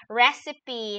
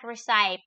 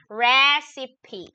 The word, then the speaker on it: recipe: what is that who has ah recipe it's repronounced as recipe not recite recipe okay recipe r e c i p e r e c i p e recipe oh